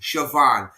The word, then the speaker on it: Siobhan: this female Irish name S I O B H A N Savon. Oh yeah. Siobhan. No, I've heard I've heard it pronounced with a V. Siobhan.